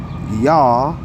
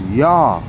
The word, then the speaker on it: Yah: and it says y'all is the name of God of Israel so there is no God we don't say it like that it's yah the name of yah of